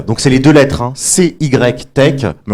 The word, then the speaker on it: CY Tech: Alors justement, CYTech, donc c'est les deux lettres, C-Y-Tech, mais on les prononce à l'américaine puisqu'on est un petit peu tous très internationaux, et on va en parler de l'international justement.